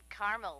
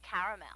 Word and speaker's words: caramel: please like it in Carmel actually you said Carmel when it's pronounced caramel can't we just call it yellow no everyone